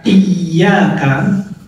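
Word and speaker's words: إِيَّاكَ: Tapi kemudian kalau tasydidnya itu hilang, kita bacanya iyyaka na'budu wa iyyaka nasta'in. Ketika tasydidnya itu tidak muncul, tekanannya itu tidak muncul, maka kemudian maknanya berubah menjadi demi terbitnya matahari kami beribadah, dan demi terbitnya matahari kami mohon pertolongan.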